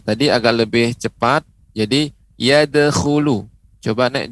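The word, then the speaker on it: يَدْخُلُونَ: Jadi yadkhulu. Coba nek diucapkan yadkhulu.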